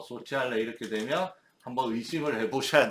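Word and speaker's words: sociale: 깐티나 코오페라티브 이거에 까브 코오페라티브 불어에 해당하는 단어는 깐티나 소치알레 보세요. CI 사회적인 농장 협동농장을 의미합니다. 키알레가 아니죠. C 다음에 E나 I가 오면 치 발음이 난다고 했습니다. 소치알레 그죠?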